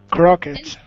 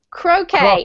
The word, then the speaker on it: croquet: Crockett. Okay, this is similar to bouquet, and you do not pronounce the T. So? Croquet. Anyone? Croquet.